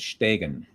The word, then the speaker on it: Stegen: in the chat to pronounce his last name is Stegen.